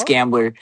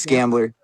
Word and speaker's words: Scambler: No. It's Scrambler. It's Scrambler.